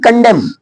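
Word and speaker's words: condemn: भजन अब ये बोलेंगे कंडेम कंडेम कंडेम मींस होता है निंदा करना क्लियर यहां एम एन जहां साथ में रहेगा वहां पर एन को नहीं बोला जाएगा आगे नेक्स्ट ओ कहां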